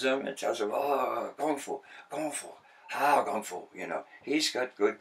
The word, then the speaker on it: kung fu: But when that word is said in China, it's not K. They don't pronounce the K. That means it's a hard G.